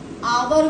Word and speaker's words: hour: इसीलिए ए लगा दिया नहीं एच की साइलेंट वो है जो वॉइस है इसकी साइलेंट है साउंड किसकी आ रही है वोवेल साउंड आ रही है आवर बोलते हैं हम तो एन लगेगा ऑनेस्ट